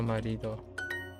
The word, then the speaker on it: marido: Oh, marido. I put the accent on the wrong place.